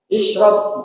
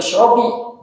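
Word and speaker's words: اشرب: Ishrob bukan ishrobi.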